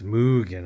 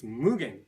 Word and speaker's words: Mugen: for saying it wrong mugan it's mugan I think m m Mugen you know what I don't care honestly don't care the correct pronunciation is mugan we just put on